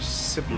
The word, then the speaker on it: Scipio: That's how you say it, Scipio.